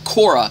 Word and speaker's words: Korach: one this is the torah portion of korach or pronounced in english korra this is all about